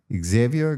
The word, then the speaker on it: Xavier: I didn't get it quite right. Xavier, the French Xavier way.